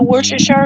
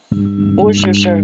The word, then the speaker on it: Worcestershire: Hey, did y'all invent the Worcestershire sauce?